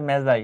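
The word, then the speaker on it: Magi: এটা উচ্চারণ কিন্তু মেজাই, উল্টাপাল্টা স্যার উচ্চারণ করে না।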